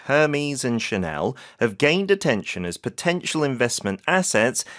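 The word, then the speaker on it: Hermès: H 발음을 안 하더라고요. 그렇죠. 이게 이제 불어니까 오늘은 그다음에 샤넬은 뒤에 강세주고넬 이렇게 발음을 합니다. 자, 첫 번째 문장 다시 한번 드릴게요. Luxury handbags from brands like Hermes and Chanel have potential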